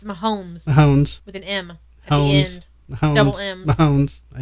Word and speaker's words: Mahomes: he's an a uh Mahones or anything look at me talking like I know Sports say his name again Mahones it's Mahomes hones with an Mounds